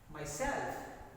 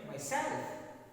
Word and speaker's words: myself: reflexive pronouns rule is reflexive take stress on the second syllable second myself yourself